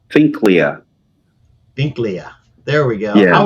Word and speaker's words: Finklea: It's Pinklea.